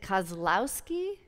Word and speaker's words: Kozlowski: meant to ask you is it Kozlowski you got it it is it's because you got it right it's exactly as it's spelled but it does um